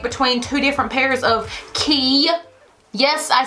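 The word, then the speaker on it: Quay: One pair of those key shades, Q-U-A-Y, if you didn't know how to pronounce that, that's how you say it, costs more than this box costs.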